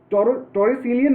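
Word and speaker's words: Torricellian: ये वैक्यूम होता है, इसको कहा जाता है टॉरिसिलियन वैक्यूम, टॉरिसिलियन वैक्यूम, TORRICELLIN। थोड़ा स्पेलिंग में देख लेना इसको ध्यान से, टॉरिसिलियन वैक्यूम कहा जाता है इसको, ठीक है, टॉर्सिलियन वैक्यूम, ठीक है।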